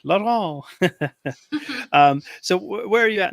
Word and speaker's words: Laurent: And I actually didn't get the correct pronunciation of your last name. Is it Laurent or Laurent? Laurent, yeah.